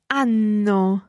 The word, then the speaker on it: hanno: Hanno.